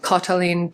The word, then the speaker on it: Katalin: of other languages and Rix gives the suggestion to make it sound like the aw in words like Baltic or salt. So, that's why I'm pronouncing words like Magda and Katalin the way I am.